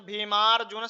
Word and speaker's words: भीमार्जुन: अत्रशुरा महेश्वासा अत्रशुरा महेश्वासा भीमार्जुन समायुधी भीमार्जुन समायुधी यहां पर जा के ऊपर भी लगा र लगा हुआ है तो र जो है वह अक्षर से पूर्व में उच्चारण करा जाएगा जैसे भीमार्जुन समायुधी है ना म के बाद में र का उच्चारण होगा तो भीमारुन समायुधी युधो